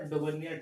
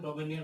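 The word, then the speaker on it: Döbereiner: तो यहाँ पे डॉबर्नियर का कुछ और भी प्रोनाउंसिएशन हो सकता है लेकिन हम डॉबर्नियर बोलते हैं तो तुमने डॉबर्नियर ट्रायड्स।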